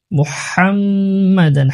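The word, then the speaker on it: مُحَمَّدًا: ওয়া আশহাদু আন্না মুহাম্মাদান, মুহাম্মাদান হার উচ্চারণ করতে হবে, মুহাম্মাদান আবদুহু, আবদুহু এখানে আইন রয়েছে, এখানে আইন অনেকে আবদুহু, আবদুহু এরকম বলে, আবে আইন উচ্চারণ করতে হবে, মুহাম্মাদান হা উচ্চারণ করতে হবে, মুহাম্মাদান আবদুহু ওয়া রাসূলুহু।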